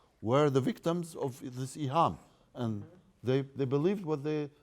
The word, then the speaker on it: iham: And they introduced a new concept in Sunni Islam, which is iham. Iham, I spell it I-H-A-M, iham.